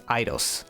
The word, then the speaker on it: Aidios: Also, it's spelled "Aidios", but in Japanese, they pronounce it as aye-dos エイドス. And saying "¡Ay, Dios!" sounds silly to me, so I'm just going to take the difference and pronounce it as "Aidos", like the game company.